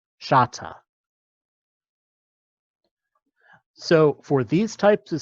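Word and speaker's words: śata: And that means that the k comes out as this, which is pronounced as a sh, shata.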